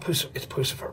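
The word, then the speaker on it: Puscifer: Hey, talk to me about Pussifer, because that's the right pronunciation always, right?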